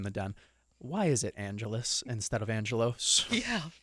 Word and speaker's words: Angelos: yeah Alice right I don't know why it's pronounced Angelus but so I apologize I'm not doing it on purpose it's just when I read it it's just a natural thing to say Angelos but it's pronounced Angelus for whatever reason when